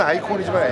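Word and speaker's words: Aicon: 그러니까 발음은 아이콘이지만 AI라는 게 이제 저거잖아. 네. 인공지능이라는 뜻이잖아.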